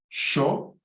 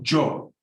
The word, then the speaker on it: yo: When you say I, you can either go yo, or with an sh, sho, or jo.